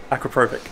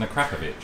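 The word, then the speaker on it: Akrapovič: Acroprobic. No, it's not even called acroprobic. It's an Akrapovic. An Akrapovic, because we are British and pronounce it wrong.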